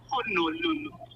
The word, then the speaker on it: Honolulu: The way to pronounce Honolulu is just that, Honolulu."